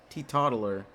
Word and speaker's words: teetotaler: Teetotaler. That's how it's pronounced.